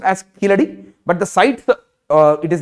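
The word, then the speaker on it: Keezhadi: is pronounced written as kijdi but it is pronounced as killer okay it is written as easy because in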